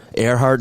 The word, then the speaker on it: Earhart: Earhart Drive. Like Amelia, yeah.